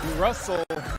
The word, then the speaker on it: Russell: genius that's his bra Russell rhymes with funnel how to Market how